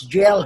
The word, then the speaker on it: gaol: No, it is pronounced as jail, ha? That is a French word.